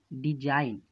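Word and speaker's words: design: Jio 4G silent होगा उदाहरण के लिए नियुक्त तौजी साइलेंट होता है जैसे साइन इन यहां पर पहले नहीं जा रहा कि साईं जो दूसरा है डिजाइन यहां येन से पहले जी है तो जी को नहीं पढ़ा जा रहा है तू है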